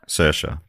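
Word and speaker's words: Saoirse: Dane how do you how do you say s s CA cersa it's the in the Irish yeah yeah CA my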